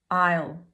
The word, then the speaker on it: I'll: Okay, so I'll, the pronunciation you need is the diphthong I, which is pronounced the same as your I. And then you have an L sound, but a dark L sound at the back of the throat at the end.